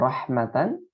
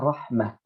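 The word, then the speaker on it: رحمة: Ya, kalau ada kata rahmatan, ya rahmatan, maka dibacanya rahmah. Jadi bukan rahmata.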